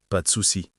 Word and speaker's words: pas de souci: Et remarque la prononciation. Pas de souci. Douce, rapide.